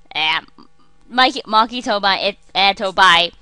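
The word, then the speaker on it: Machi Tobaye: Maki Tobai. It's just hard to pronounce kind of names, just like his Japanese name, and it kind of sounds like much to buy, but there's no really anything relevant about that.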